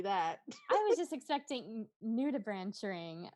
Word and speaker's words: nudibranch: want anything to happen to his cute little nudie branch ring or himself. Are we really going to commit to pronouncing it nudie branch ring?